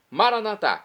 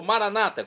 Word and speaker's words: Maranata: professor Felipe qu esclareceu Agora sim maranat como dizemos noss católicos ou Maranata como dizem nossos irmãos separados os evangélicos ou protestantes não importa pronúncia o significado é o mesmo vinde Senhor Jesus um